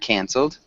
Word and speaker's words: canceled: sounded really well done canceled maybe was the only thing can you repeat canceled cancel nice it's that nasly sound with the a that sounded perfect though cancelled and Allan can